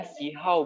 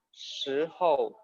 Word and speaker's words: 时候: Bacanya sihau betul atau salah? Salah.